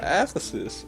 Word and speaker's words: Aphesis: Ephesus.